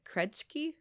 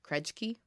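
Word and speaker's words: Krejci: turnable kind of experience it's called the croject key I hope that's how you pronounce it krej key crunch key okay dump yeah it's k-r-e-j-c-i krej key so um this dump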